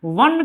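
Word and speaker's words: one: चलिए दूसरा एन वन eyed man, वन का उच्चारण करिए, वन का उच्चारण क्या होगा? तो वन का उच्चारण होगा आपका कॉन्सोनेंट का।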